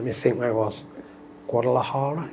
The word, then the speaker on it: Guadalajara: Guadalajara, is that, yeah, that ring a bell, yeah? I said it right, yeah.